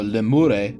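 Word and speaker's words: lemures: old you come back as a lemure or leure if you're going with the proper Latin pronunciation, you can come back as one of the les if you were really good.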